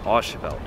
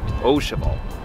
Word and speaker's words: Au Cheval: a little embarrassed because back in Chicago I mispronounced the name of the restaurant it's not Asel it's oal Loosely translated oal means to put an egg